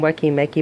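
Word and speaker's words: Weki Meki: next to me is Ricky Mickey or some people call them wekki Mickey but it's wicking me yeah I think that's what they're pronounced and they consist of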